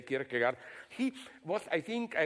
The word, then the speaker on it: Kierkegaard: I read in a biography of, how to pronounce it correctly, Kierkegaard. Okay, we in the corrupted West say Kierkegaard.